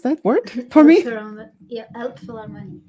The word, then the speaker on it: Elbphilharmonie: Hall, the Kennedy Center, and could you please pronounce that word for me? Yeah, Elbphilharmonie. Elbphilharmonie in Hamburg.